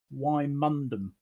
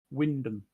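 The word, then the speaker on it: Wymondham: of my favorites is why mundum oh yes but pronounced windham and there's cassita that's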